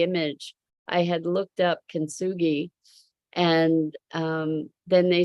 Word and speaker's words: kintsugi: It's called kintsugi, and it's taking something that's broken, like a broken bowl, and mending it with resin that is embedded with gold.